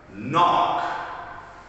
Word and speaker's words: knock: our next word again remember the rule of silent k if it had a letter n next to the letter k in the beginning of the word the k is silent soul silence knock i want everybody to